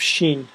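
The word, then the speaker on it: ش: After Sin we have Shin. sh, and that's how it's pronounced. Sheen is similar like seen with 3 dots on top. So we have seen with 3 dots, it's became sheen. Seen, sheen. Now after that we have sad.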